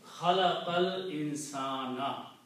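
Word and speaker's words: خلق الإنسان: So now when you read these two, khalaqal insana. Separately it was khalaqa and al-insanu. So you don't pronounce this alif, khalaqa al-insana or khalaqa al-insana.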